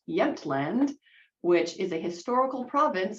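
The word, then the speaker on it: Jämtland: So they collected this particular specimen in August of 1912 and it is pronounced Yentland which is a historical province of Sweden which you can see right here.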